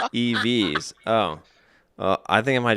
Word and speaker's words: evX: to make up for sean snub also it's pronounced evs oh i think i might just still go with eves to just rub it in for a little